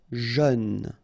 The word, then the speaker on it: jeune: Jeune, final E not pronounced, but then EU together, jeune, jeune.